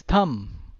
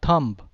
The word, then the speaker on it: thumb: key pronunciation Quixote hey it's not bomb it's bomb right then dumb not dump then it is thumb not thump then it's calm not